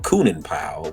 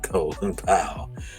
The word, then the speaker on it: Colin Powell: Uh some people call him Coonan Powell, but I'm gonna say it right, Colin Powell.